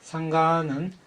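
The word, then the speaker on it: saṅgha: 상가는 우리나라 말로 승가라고 하죠. 상가, 원래 빨리 발음은 상가입니다.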